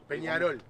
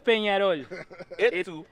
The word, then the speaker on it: Peñarol: Peñarol. Peñarol. Listen, this is where it came from. You have to say it this way. Esto es Peñarol.